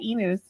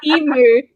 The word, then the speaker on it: emu: You say emu like a cow, but it's emu like the letter U.